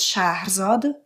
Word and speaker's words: Shahrzad: Euh donc je m'appelle Charzad mais qui se prononce Charzad en forci.